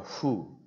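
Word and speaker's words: ふ: so it's like a who Fuji Mount Fuji tofu tofu even I still have problem saying this because this sound doesn't exist in Hindi or in English it's a combination of foo and who then comes mommy Moo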